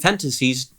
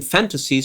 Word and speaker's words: fantasies: So uh galaxies and fantasies she both mispronounces by putting stress on the last syllable instead of the first one.